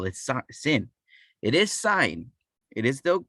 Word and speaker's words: sine: we still call it sign it is not going to be sin many people call it sin you know it always